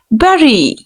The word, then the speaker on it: bury: Like you will have to pronounce U as E. Bury. He buried, right? The word is bury.